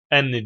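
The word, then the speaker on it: أنّ: ne lazım meful lazım Öyleyse artık enn diye okunuyor inne diyi okunmuyor 4 ismi ve haberinden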